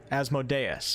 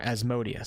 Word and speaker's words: Asmodeus: Beware, dread, Asmodeus, or Asmodeus. Some of you guys might yell at me, even though I have proof that Asmodeus is one of the correct pronunciations.